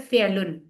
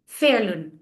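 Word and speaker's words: فعلن: तो फायला नहीं बल्कि वो लफ्ज बन रहा है फेलुन। तो वो लफ्ज की प्रोनाउंसिएशन देखिए, फाइलुन, मफरूलुन, फेलुन। प्रैक्टिस कर लें अपनी अपनी जगह।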